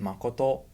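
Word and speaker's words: 誠: if you read it the japanese way it's pronounced makoto it's used in the chinese word sincere ah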